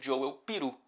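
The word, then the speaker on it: Joël Piroe: Ele, inclusive, eu fui checar como que pronuncia-se o nome dele e vi um vídeo dele mesmo dizendo que se pronuncia Joel Peru.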